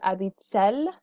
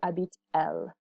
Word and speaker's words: habite-t-elle: normally it's elle habite, we just put that T in the middle for pronunciation. Où habite-t-elle instead of où habite-elle.